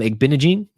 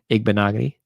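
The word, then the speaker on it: Igbinoghene: go um noah igbonogony i used to call him egg binaging because i couldn't pronounce things igbonogony nick fairley the destroyer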